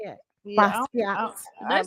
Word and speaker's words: Basquiat: Yeah, Basquiat.